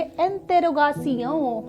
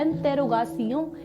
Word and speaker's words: interrogation: और आज है इंटेरोगेशन, जिसे फ्रेंच में हम क्या बोलेंगे, स्पेलिंग रिमेन सेम, और इसे बोलेंगे इंटेरोगासियों। हो गया ना, सेक्सी साउंड कर रहा है, इंटेरोगासियों, इंटेरोगासियों, इंटेरोगासियों।